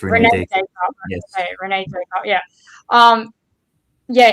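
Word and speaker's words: René Descartes: Do you say his name Rene? Is that how you pronounce his name? Or yes. It is Rene Descartes.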